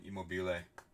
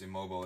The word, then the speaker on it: Immobile: too for italy e-mobile i always want to call him immobile but it's immobile isn't it immobile immobile [ __